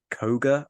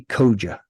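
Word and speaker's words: Køge: at the Battle of Koga. I've probably mispronounced that horribly. I believe, and if there's any Danish people there, please correct me, but I think it may be Koja.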